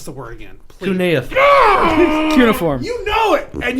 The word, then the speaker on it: cuneiform: Hey, if somebody's pronounced something wrong, what's wrong with just being like, hey, it's actually pronounced cuneiform?